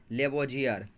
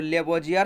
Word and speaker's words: Lavoisier: तो लेवोजियर, लोमे का, वोमो का, जो मर्सी का, यूरो, लेवोजियर, इंग्लिश बोलते हैं LAVOISIER, लेवोजियर। लिख लिया स्पेलिंग आप?